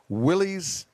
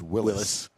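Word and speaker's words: Willys: 31 bucks they're even halfway there it's about what I paid for mine restored 1943 Willie's it's actually pronounced Willis Willis what you talking about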